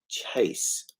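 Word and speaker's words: chace: is short for through and chase it isn't spelt like that anymore but it rhymes with place and race and dwelt is an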